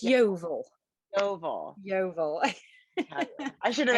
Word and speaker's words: Yeovil: And how do you pronounce that? It's Yeovil.